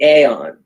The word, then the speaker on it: Aeon: so accessible is the aeon it's spelt a-e-o-n but it's the same as the word eon e o n and